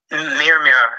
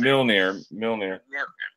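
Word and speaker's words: Mjölnir: Mirmir. I can't pronounce it. Milnir.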